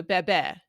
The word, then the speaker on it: bebé: in this book um you can pronounce that the Castilian way or the way that it's done in Spain baby or in Latin America you'll see that it's e as in mess so Bebe you'll have different pronunciations